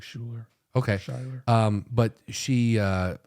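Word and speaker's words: Schuyler: one more time s-c-h-u-y-l-e-r yeah it sounds like Schuler okay um but she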